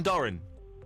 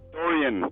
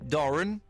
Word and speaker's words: Doran: It's Doran. Dorian. Doran.